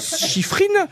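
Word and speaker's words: Shiffrin: savez comment ça s'écrit prononcez le bien ça se dit chifrine voilà pasifrineif Mela chifrine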